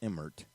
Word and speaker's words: Emmert: well amid to college hoops scandal NCAA's Mark Emmert am i pronouncing that correct brother rich Emmert emirate you